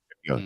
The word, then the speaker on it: Ogunjobi: Ogunjobi. Ogunjobi.